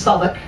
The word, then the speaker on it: Southwark: So the cathedral on the left-hand side, I know it's spelled Southwark, but it's still pronounced Southwark, is over 700 years old.